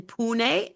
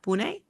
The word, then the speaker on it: Pune: Engineering and technology in pun that's how you pronounce it yeah Pune that's right that's right Pune India